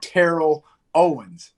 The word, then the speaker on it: Terrell Owens: been born december the 7th 1973 it's been terrell owens let him know let them know my name